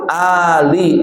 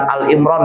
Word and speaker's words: Ali Imran: surah Al-Baqarah, rakaat kedua Ali Imran. Nah, bacanya Ali bukan Al-Imran ya. Surah Al-Imran yang akan dibacakan oleh qari'ah kita membaca surah Al-Imran, bukan Al-Imran. Ali. Ali itu artinya keluarga. Kalau yang lainnya Al-Fatihah, Al-Baqarah, Al-Al itu boleh.